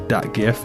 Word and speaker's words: GIF: Now, see, I like to use the soft G on GIF instead of the hard G. I know that's an age-old debate, but just wanted to throw that out there. All right, fair enough. GIF's peanut butter, but well, the creator of the file goes with the soft G, so that's what I don't know. But I think the hard G is more common.